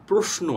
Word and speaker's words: প্রশ্ন: যদিও লেখা আছে তালব্য স, কখনোই উচ্চারণে কিন্তু তালব্য স আসবে না। উচ্চারণে আসবে দন্ত স এর মতো এস এর যে উচ্চারণটি, অর্থাৎ প্রশ্ন, প্রশ্ন।